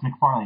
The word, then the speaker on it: McFarlane: That's McFarlane, right? I'm pronouncing that correct?